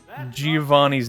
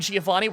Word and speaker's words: Giovanni: How do you guys pronounce Giovanni's name? Giovanni. Okay. Why? Who's calling Somebody you out? Somebody commented today and said it was Giovanni. Giovanni? Giovanni with a hard G.